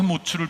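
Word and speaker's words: מוץ: 그래서 이 츠 발음으로 운율을 맞춘 거죠. 우리말이나 영어 번역에는 다 그런 것이 날아가 버리지만 이 에츠와 모츠를 비교하는 겁니다.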